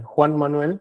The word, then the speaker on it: Juan Manuel: speaker engineer Joan M sir am I pronouncing it right? It's uh it's difficult for you. It's a Juan Manuel but you can call me.